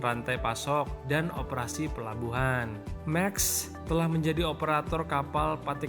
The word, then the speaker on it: Maersk: Dan yang terakhir nih guys ya, ini yang nomor 7, perusahaan Maersk Indonesia. Gimana bacanya nih? M-A-E-R-S-K, Maersk Indonesia.